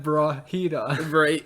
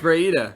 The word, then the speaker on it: Breida: No, it's Breida. It's Breida. Breida? Yeah, That's you all call one him syllable. Brahita. There's no H. Breida. No, it's no H. You said Brahita. No, I said yes, you did. Breida. Everyone listen back. You said Brahita. Breida, because Like bruh.